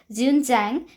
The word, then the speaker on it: Xuanzang: It's pronounced as Xuanzang.